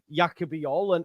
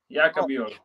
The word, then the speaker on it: Jaka Bijol: I'm excited by the signing of Jaka Bijol. And I saw from your... Am I saying it right, first and foremost? Yeah. Jaka Bijol.